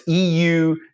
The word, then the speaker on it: eudaimonia: Some people pronounce it eudaimonia. Other people pronounce it eudaimonia. It's eudaemonia.